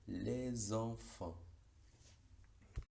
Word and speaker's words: les enfants: cualquier otro contexto, pero en la liaison va a tener un sonido, pero no va a ser el de S, sino el de S, cuyo símbolo fonético es la Z.